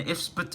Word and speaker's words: IFSBT: It's spelled IFSBT, but it's pronounced Ifsbut, alright?